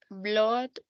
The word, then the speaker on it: blood: The correct pronunciation is blood. And the verb bleed, yes. And the past, in past, bled, Blood. yes. But the noun is blood. Blood. Yes, it's not Blood. like bull with double O.